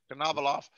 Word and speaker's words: Konovalov: Konovalov.